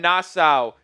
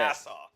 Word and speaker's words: Nassau: That's two people from Nasau. Ain't that right? Not even close. How do you say it? Nassau.